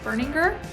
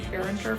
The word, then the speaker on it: Berninger: And it's Bun of Pins by Matt Berninger, who I've been pronouncing Berninger forever, so I'm sorry, Matt.